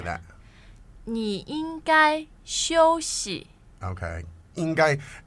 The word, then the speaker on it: 应该: 应该, it's first tone, isn't it?